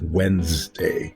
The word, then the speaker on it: Wednesday: at how it's spelled when we say it we put the n in front of the D and this s after the NES is silent and it's Wednesday when's When's the s's